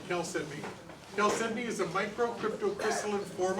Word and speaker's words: chalcedony: Some people pronounce it chalcedony, but I call it chalcedony.